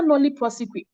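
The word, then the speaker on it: nolle prosequi: Kobe taught you, you would know that the Attorney General can enter nolli prosequi. Anyhow you pronounce it, it is nolli prosequi, nolli prosequi.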